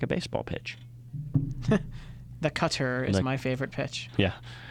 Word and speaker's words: Qatar: say it either way it is generally accepted to say pronounce Qatar as Qatar or Qatar either are oh I got the most authentic version of pronouncing Qatar Qatar is cutter secretary with the right